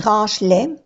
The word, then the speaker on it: range-les: Range-les. No pronunciamos la E. Igual que aquí. Ramasse, no se pronuncia la E.